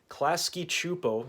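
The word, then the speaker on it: Klasky Csupo: if my theory was correct and turns out klasky chupo yes that's how you pronounce it the animation company responsible for rugrats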